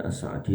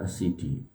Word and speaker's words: As-Sa'di: Tulisannya As-Sa'di tapi bacanya As-Sidi.